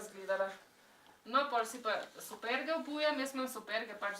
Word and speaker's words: superge: Tako, evo, zdaj si bom jaz superge obulam. How do you say tennis? Tennis shoes? Superge.